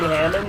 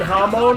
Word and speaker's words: Hamon: to Spencer about Jojo, I kept saying Hammond, and he, like, apparently didn't know what I was talking about because I was saying it like that. He was like, oh, you mean Hamon?